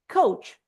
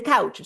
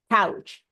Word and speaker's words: couch: know that sofa can also be said coach the couch sorry pronunciation mistake couch so as I don't